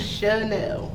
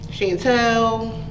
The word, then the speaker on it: Shanell: What is the correct pronunciation of your name? Shanell. Shanell, okay. Has it ever been mispronounced? Yes. What have you got? I knew it one time. I got Shanell, Chantel, Shanell. Right. Let's see. Sherelle.